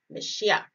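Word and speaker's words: משיח: found in strong's h 48 99 it is pronounced meshiach and it is spelled so m-s-y-c-h or if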